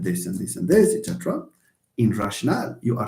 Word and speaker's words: rationale: It's called rationale. Rationale with E at the end, and it's not pronounced rational, please. Rationale.